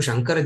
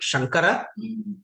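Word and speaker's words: शङ्कर: actually, because of the linguistic way of pronunciation, it looks like Shankara, but actually, when you write, they write it like Shamkara. It is Sham, not Sang.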